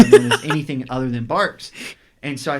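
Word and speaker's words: Barq's: I come back out, and I'm like, this is Barks. And she's like, that says Bangs.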